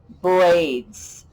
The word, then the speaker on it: braids: z sound or maybe braids braids that s even though it normally says at the end of a word it can say z sometimes it just says its